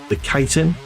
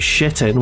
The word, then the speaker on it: chitin: I've always pronounced it chitin, but apparently I'm wrong. You could also pronounce it shitin, which is what my old one of my friends in school used to say it in when he was playing Morrowind.